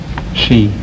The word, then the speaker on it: ski: is 15 lb mhm number one is it pronounced ski or shei ski in the United States and and and in Europe shei she why the difference I don't know uh